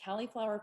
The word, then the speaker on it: Cali'flour: And then let's see, Califlour Foods. It's spelled like California because that's where we originated.